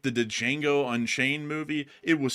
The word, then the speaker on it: Django: I think the D is silent. Oh, whatever. Like, I don't care. Come on, Like, Django. The Django. How to pronounce the Django? Like, man, it is Django.